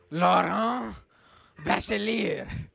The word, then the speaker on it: Laurent Bachelier: You can drag me on my French pronunciation. Let me try again. What is it again? Laurent Bachelier. Laurent Bachelier. Exactly. Well, I was very French there, I feel like. Laurent. Well, yeah, because you English speakers don't know how to pronounce the R's in French.